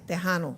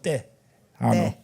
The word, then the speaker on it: Tejano: And I realized they're not saying Tejano, they're saying Tejano. Tejano. Tejano.